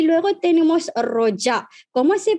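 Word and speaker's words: rojak: Vale, y luego tenemos roja. ¿Cómo se pronuncia esta comida, esta palabra? Roja, se pronuncia roja, no roja, porque J en malayo se pronuncia como en inglés, J, no como en español, J, ¿verdad?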